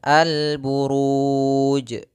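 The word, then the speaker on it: البروج: Lalu ada huruf 'jim' yang kita hentikan, jadi pastilah qalqalah. Jadi kami membacanya sebagai 'alburuj'.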